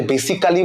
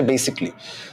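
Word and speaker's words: basically: পারেন বেসিকলি মানে যে বেসিক্যালি বলি না আমরা এটা বেসিক্যালি না এটার উচ্চারণ হচ্ছে বেসিকলি সো বেসিকলি এমন একটা ওয়ার্ড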